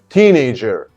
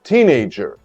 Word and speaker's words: teenager: definition of teenager okay teenager the stress is on the first syllable a person who is between 13 and 19 years old how do you pronounce it of course teenager do you have a